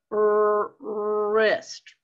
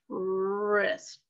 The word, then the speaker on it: wrist: w r right there wrist wrist do you hear the w me either that's a silent w right there ankle chin thigh belly